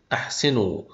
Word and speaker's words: احسنوا: ابن امراه اعتراض استقرار الحاله التانيه اللي بنكتب فيها الالف ولا ننطقها هي الالف الفارقه اللي بتيجي بعد الافعال لما يتصل الفعل به واو الجماعه على سبيل المثال تعاونوا احسنوا لن يستخرجوا فهنلاحظ ان في الافعال ديت اتصلت واو الجماعه بالافعال ديت فاضيفك الف ولكن الالف ديت لم تظهر في النطق لاحظ بان واو الجماعه